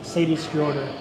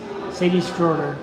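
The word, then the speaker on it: Seyðisfjörður: chat on Instagram and taught me how to say the name of that city which is Sadie's daughter so spelled like s-e-y-d-i-s-f-o-r-d-u-r I believe Sadie but plural Sadie's Sadie's shorter which upcoming places will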